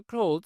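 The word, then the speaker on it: clothes: খেয়াল করুন ওার ক্লিন ক্লো খেয়াল করুন এটা উচ্চারণ ক্লোজ এবার খেয়াল করবেন আমরা বন্ধ করার ইংরেজি কি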